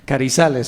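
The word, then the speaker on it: Carrizales: Voy a aprovechar que estamos en el Centro Cultural de España para pronunciar la Z bien marcada. Carizales, si no me equivoco, del Viceministerio de Vivienda y Urbanismo.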